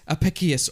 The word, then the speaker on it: Apicius: speak line right office Apicius or a piss yes it's api CI you yes Apicius Apicius right okay if it's if it's Latin in to be okay yeah sort Apicius or as it's also